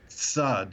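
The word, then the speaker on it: צד: And of course, the word for side or tzad. So there we have again the TZ sound, the tzadi at the beginning of the word.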